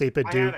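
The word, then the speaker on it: 8BitDo: do makes and it's it's pronounced a do it's like the little thing looks like the Mario brick and like you can literally uh yeah it's pronounced apid do like Scooby-Doo yeah so it's like there's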